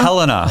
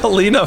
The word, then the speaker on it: Helena: Helena is how you pronounce it. Thank you to whoever corrected me on the last pod. I've been saying Helena for months.